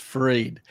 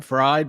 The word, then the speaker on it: Fried: also Sam biteman Pride that last bit is pronounced freed I always call him fried because it annoys Ellen and so now I'm in